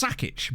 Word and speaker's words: Sakic: Like Joe Sakic, for example, surely that's Sakic, but obviously he's not from there.